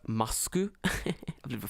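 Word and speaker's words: マスク: In Japanese, it's pronounced masku.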